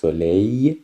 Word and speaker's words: soleil: le soleil، این ال آخرش خونده نمیشه.